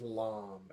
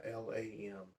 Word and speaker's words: LAM: And this mantra is LAM, L-A-M.